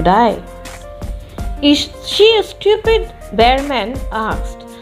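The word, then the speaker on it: Behrman: and see john c bearman replied now baher man h can be a silent bear man that's how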